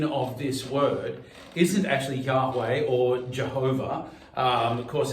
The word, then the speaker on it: Yahweh: It's the same extrapolation of the same tetragrammaton from Yahweh or YHWH. But probably the most accurate pronunciation I've been taught was Yahweh.